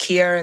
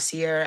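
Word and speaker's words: Ciara: And also just for um so everybody knows, my name is pronounced Kiara and not Sierra. I know it looks that way.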